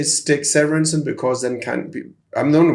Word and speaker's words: Severinsen: I will pronounce your name the way that you pronounce it. But I usually say Stig Severinsen because then I'm the only one in the world with that name, so it's easy to Google.